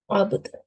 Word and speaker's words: العبد: Okay, try pronouncing this from here again. نعم العبد. Abd, yes.